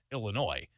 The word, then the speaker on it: Illinois: Of course, it's the right way to pronounce it, Illinois. With a very small number of people actually saying it's Illinois. Now that's the plural, right? Or the possessive. So Illinois' budget is going to be this. Illinois' team is going to do that. But you can't add that S at the end. It's supposed to be silent.